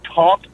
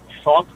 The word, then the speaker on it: thought: When people say taught instead of thought.